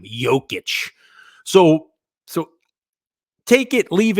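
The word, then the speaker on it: Jokić: the Joker right now jock itch as I like to call him I get his name wrong every single time jokic so so take it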